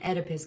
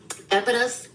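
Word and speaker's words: Oedipus: This person has what you called a uh I can I cannot say this right because the O is silent in the neck edipus complex.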